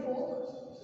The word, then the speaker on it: Volk: ठीक है, तो जर्मन भाषा में इस फोक को इस तरह लिखा जाता है VOLK। ठीक है, इसकी प्रोनाउंसिएशन फोक ही होती है।